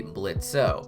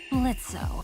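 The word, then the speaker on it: Blitzø: it's well known that blitz's name used to be blitzo but that he decided to make the O silent when he adopted something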